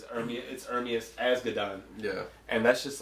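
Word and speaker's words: Ermias Asghedom: No, I couldn't pronounce it either. But as you heard, it's Ermias Asgadon.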